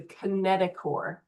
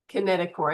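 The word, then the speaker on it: kinetochore: And those proteins collectively are called the kineticore. Kineticore. I know it looks like it says chore, but we don't pronounce the h.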